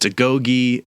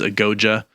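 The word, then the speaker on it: agoge: a training ritual called I've heard it pronounced to Gogi in Modern English the recommended pronunciation was a goja which does sort of fit the phonetic patterns as I said this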